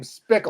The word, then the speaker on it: Spickle: That's a kick-ass name, Spickle. It's because it rhymes with pickle.